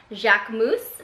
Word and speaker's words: Jacquemus: bag and it is by the brand jacques moose i believe that's how it's pronounced um so if you